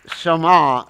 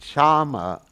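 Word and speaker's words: Shyama: So the word Shama is pronounced, it's the name of Radharani. If you pronounce it Shama, then it's Krishna. So it's how you stress the A in the word.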